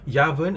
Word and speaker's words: Yuvern: Yu is pronounced Ya, okay, like the word in the word umbrella. So is Yavern and Yuvern the same name?